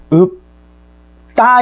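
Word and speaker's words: 읊다: 예를 들어서 자, 읍다 이렇게 됐을 경우에 우리는 발음이 읍다 이렇게 발음되는 거예요, 여러분.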